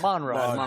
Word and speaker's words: Monroe: north central North Louisiana Monroe right that's how you say it Monroe cuz when I was there I thought no but they say Monroe right so when you were